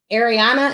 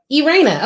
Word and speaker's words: Irena: Ariana, am I saying that right? Good morning. It's Irena. Irena. Okay, cool. Awesome. I made that way too complicated. Irena. That's the premise pronunciation.